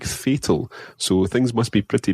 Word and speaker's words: fatal: just aren't going very well, you could say fatal. Fatal. Fatal. Fatal. So, if I ask ¿qué tal? Fatal. Fatal. Fatal. It looks, when it's written, it looks like fatal.